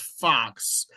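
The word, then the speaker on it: Fuhs: whose last name is Fox, but it's spelled F U HS. So in Brenham, Texas, we used to have a number of those uh that name FU HS and yes, it was always pronounced Fox.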